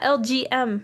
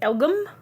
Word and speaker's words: LGM: Yeah, LGM. Right. Yeah. Okay, that was the way that that I could remember how to say it anyway, because I was like, Elgum? What? No, it's LGM.